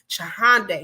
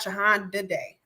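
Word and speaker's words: Chihande: lucy chihonda day or i think chahande i think i pronounce her name chahande not jahan didday okay but lucy is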